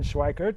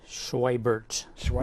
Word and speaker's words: Schweibert: And my guest this evening is John Schweikert. Did I pronounce that correctly? Schweibert. With a B, yeah.